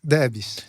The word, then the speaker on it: Debs: É assim que fala? Debs? Debs. Isso.